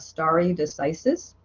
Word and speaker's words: stare decisis: We adhere to something called the doctrine of stare decisis. Doctrine of stare decisis. And stare decisis is spelled S-T-A-R-E. And then decisis is D-E-C-I-S-I-S. Stare decisis. And it's Latin.